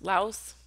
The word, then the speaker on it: Laus: to our lady of i guess it's pronounced uh la la la la house laos laos we'll go with laos l-a-u-s excuse me i am not